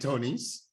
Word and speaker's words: Tonis: did you say that do you say the s okay Tony's Tony's yes all right all right well welcome to Diamond Club and Tony's we are so excited